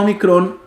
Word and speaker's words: omicron: tenemos la omicron y la omicron se pronuncia como la o una o corta oliva o a diferencia